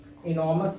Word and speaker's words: enormous: आर को देखिए यहाँ भी साइलेंट करना है, मतलब स्लाइडली साइड हल्का सा बोलेंगे इनॉमस। आर के पहले आ रहा है क्या, वोवेल, वोवेल है, ओ वोवेल है, तो इसको पढ़ेंगे इनॉमस। एग्नी, इनक्रोच, वीदा, आर को